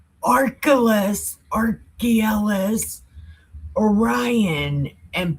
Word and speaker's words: Orion: Arcturus Oran and Poliades and the Chambers of the South which does great things past Do you want to know how to say them right? It's Archalus, Archelis, Orion, and Pilates.